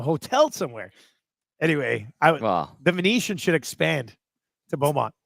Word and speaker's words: Venetian: somewhere anyway I the Venetian should expand to Bowmont it's here's how you spell it V NE t i n like Martian but with Venetian don't confuse me V